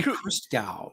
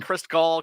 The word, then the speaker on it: Christgau: I get Chris Gall, Chris Gann, Chris Gnu.